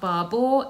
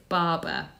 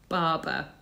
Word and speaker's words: Barbour: So it's not Barbour, it's Barber. Barber.